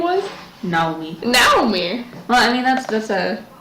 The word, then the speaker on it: Naomi: Naomi. Well, I mean, that's a actual pronunciation. Oh, I'm sorry. Like, just Naomi, her, like, if you go by Japanese pronunciation, I can speak, it would be Naomi. Oh, really?